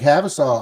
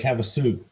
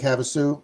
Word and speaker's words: Havasu: Ah, Lake Havsolaw. I've been to Lake Havsolaw. Got there once. Got there once on our California trip. Norcal. Lake Havasu. Oh, is that how you pronounce it? Lake Havasu.